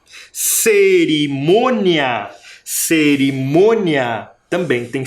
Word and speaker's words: cerimônia: que é o c cerimônia cerimônia também tem sílaba tônica esse som é diferente desse som devido ao acento um acento É nasal parece que sai pelo nariz o som Mia o outro